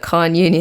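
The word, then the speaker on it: Carn Euny: I don't know about the scientific name of the moss because I did not learn Latin in school, but Carn Uni is correct.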